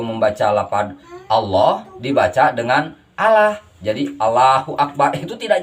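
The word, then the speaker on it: الله: Dengan lam jalalahnya dibaca tebal. Jadi dibacanya jadi Allah, bukan Allah.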